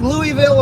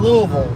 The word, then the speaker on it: Louisville: people don't live there say Norfolk it's funny how people live around the area call it Norfolk or Norfolk just like Louisville and Louisville like people live near Louisville call it Louisville just like Stanton Virginia